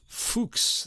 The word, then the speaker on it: Fux: track two Johan ysep fuks that's spelled fux gratus ad parnassum this